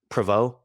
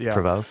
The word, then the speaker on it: Provo: I'm in Provo yeah I'm sorry proo I believe that's how it's pronounced correct proo yeah yeah exactly yeah no that's exactly